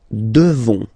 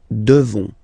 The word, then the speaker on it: devons: Nous devons. Okay, classic ending ONS for nous. Okay, you just pronounce this on, this nasal. Okay, and then the S, final S is not pronounced. Nous devons.